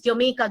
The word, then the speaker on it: Jamaica: And Jamaica, এটা একজন জানতে চাইলে, Jamaica হলো উচ্চারণ is Jamaica, though we write it Jamaica, মানে জামাইকা নয়,